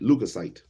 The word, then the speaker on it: leukocyte: Leukocyte, leukocyte. That's how I'm gonna pronounce it right now. Leukocyte, leukocyte. Get off my phone. I want to see you. Leukoc, leukocytes. How do you pronounce it?